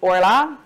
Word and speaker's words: Orlaith: so my name is Ora forget about the spelling don't even try to pronounce it that way um as you can